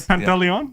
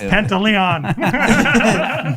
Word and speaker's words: Pantaleon: you're rubbing it yeah people that know how to pronounce ethnically difficult last names like pantaleon yeah i can't wait to find out it's completely something different yeah it's pentaleon and then what else you